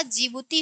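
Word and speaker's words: Djibouti: जिबूती होगा। डी से क्या हो जाएगा? जी ओ टी यहां पे डी क्या होता है? साइलेंट होता है।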